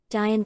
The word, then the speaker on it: Dian: In informal pronunciation, Dian can rhyme with lion when pronounced as Dian and lion respectively.